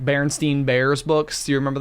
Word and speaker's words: Berenstain: It's Berenstain Bears is how you say it. And everyone remembers it being spelled Stein because you say it Berenstein, but it's actually spelled Berenstain. Berenstain. With an A instead of an E.